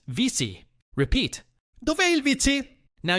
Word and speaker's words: WC: Pronounced vici.